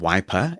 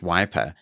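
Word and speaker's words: Wipr: The one that I chose is called Wiper, and it's spelt W-I-P-R.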